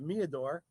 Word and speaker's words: Meador: We're going to pronounce it Meador. It could be meter, but it's Meador in our world.